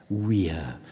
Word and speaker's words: vir: Because if you think about the first syllable of that word, vir, V-I-R, it is the Latin word for man in the masculine sense. Vir, or as my old Latin master used to say, weir, but he was a bit weird.